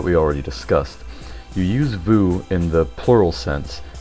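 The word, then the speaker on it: vous: It's pretty straightforward and simple pronunciation. It's just new. Our next word is vu.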